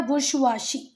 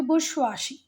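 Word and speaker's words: bourgeoisie: इसको एक्चुअल में रीड क्या करते हैं बेटा, बुर्शवाशी, बुर्शवाशी, ठीक हुई बात। एक बार गूगल पे प्रोनाउंसिएशन और देख लेना, बुर्शवाशी, ठीक है। और जैसे हम बोल रहे हैं ऐसे बोलते भी नहीं है, थोड़ा सा कम मुंह खोल के, बुर्शवाशी।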